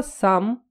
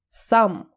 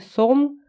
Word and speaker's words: some: было еще раз повторюсь слово сам считается с а сам никогда не говорите сон даже если вам сильно будет хотеться это сделать это слово везде всеми всегда произносится как сам хоть в связке